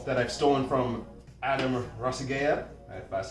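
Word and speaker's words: Ragusea: I will call that I've stolen from Adam rasiga that's how you pronounce his last name YouTube guy oh man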